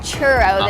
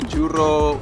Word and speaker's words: churro: mean yeah the correct the correct way I guess it will be judo you have to roll your R's judo you there good